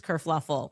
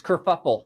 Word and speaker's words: kerfuffle: Prince Harry abdicates England, causes this whole race kerfluffle. Oh, no, it's kerfuffle.